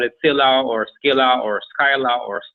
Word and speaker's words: Scylla: at the police and he mentioned cylinder and we pronounce it in the same way Philip there's even another way of there was a Korean goddess called Sheila and they love to pronounce us as Sheila and we love it